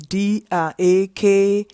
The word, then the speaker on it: Dakar: Now I'll go straight to the Senegal, Dakar. Sorry, Senegal is the country. Dakar is the capital. It's D-A-K-A-R, Dakar.